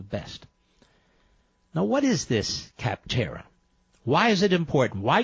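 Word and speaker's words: Capterra: who use kaptara that's kaptara it's spelled like it sounds c AP te r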